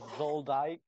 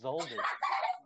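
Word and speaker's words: Zoldyck: the dissolved family right no it is not zoldai it's zelda zelda okay what the what's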